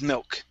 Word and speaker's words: milk: you said milk good the first time you had left off the k okay so because she made milk try that because she